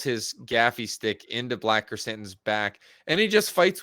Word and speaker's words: Krrsantan: Then we get, which is probably the best wake up scene in Star Wars with Black Krrsantan. Am I pronouncing that correctly?